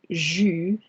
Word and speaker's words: jus: And un jus d'orange, jus, the S here is silent, as well as céréales.